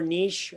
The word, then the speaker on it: niche: out for me yeah niche or niche however you want to pronounce it it's pronounced differently around the world okay and so how